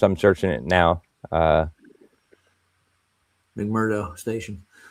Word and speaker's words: McMurdo: Uh McMurdo Station. Yeah. Yeah. Uh yeah, I was mispronouncing it. I was calling it Marcato or something.